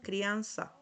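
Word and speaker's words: criança: Esta se pronuncia sa, so, su, sal, soes. Sal, sal, soes. Como si fuera una letra S. Esa es la pronunciación.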